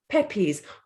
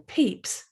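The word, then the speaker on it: Pepys: i'd seen his name i'd never heard it pepe's i said it peppies over and over until one girl spoke up do you mean peeps she said her voice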